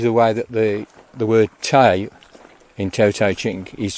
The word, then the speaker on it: De: Actually, virtue is the way that the word Tai in Tao Te Ching is translated, or dirt as it's properly pronounced.